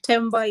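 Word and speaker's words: Themba: Is the H felt like Temba or Temba? It's okay. H is silent, so just say Temba.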